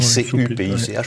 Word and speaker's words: Cupich: de Chicago, le cardinal Blaise Cupich, alors ça s'écrit C-U-P-I-C-H, mais ça se prononce Cupich, parce qu'il est d'origine...